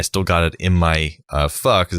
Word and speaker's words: pho: Well, it was in pho, which I like pho, the soup, the Vietnamese soup. That's how it's pronounced.